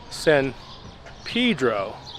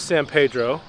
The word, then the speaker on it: San Pedro: Marlene grew up in a town called Sen Pedro that's how they say it over there but it is San Pedro same name as this